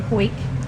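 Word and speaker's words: Hawick: Called Hoyk. It's spelled Harwick.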